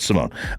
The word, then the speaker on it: Simon: It's Simon, but Simone. It's Simon, but Simone? It's spelled Simon. Yeah. It's pronounced Simone.